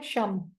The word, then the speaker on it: शम: शम च ड करेंगे श और इस पर बिंदी इंग्लिश में स्पेलिंग इसके होंगे एस एच ए एम ठीक है शम जिया दसवानी सर क्या